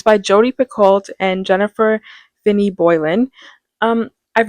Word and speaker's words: Picoult: It's by Jodi Picoult and Jennifer Finney Boylan. I've never read a Jodi Picoult book before, or Jodi Pico, I think it's pronounced.